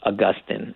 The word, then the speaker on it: Augustine: Augustine, although it is also often pronounced Augustine, and I myself switch between those two in ways I don't know a pattern in unpredictable ways.